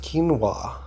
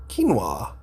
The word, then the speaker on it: quinoa: that is grown for its edible seeds it's pronounced quinoa quinoa it technically isn't a cereal grain but a